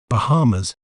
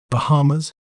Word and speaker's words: Bahamas: may pronounce it as Bahamas Bahamas bar ha ma feel the little weight on mid syllable ha Bahamas so when we put it all together it's pronounced as Bahamas the Bahamas is rich